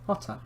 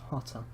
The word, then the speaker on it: Jota: It's not Jota, it's Hotter. Really, it's pronounced Hotter.